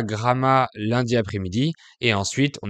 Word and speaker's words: Gramat: Donc c'est surtout dans le sud du pays qu'il y a des noms de villes dont on prononce toutes les lettres. Bref, on est arrivé à Gramma lundi après-midi et ensuite